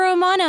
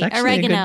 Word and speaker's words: Oregano: comically so hey look you're romano now sorry oregano i realized i was saying his name wrong it's yes you're right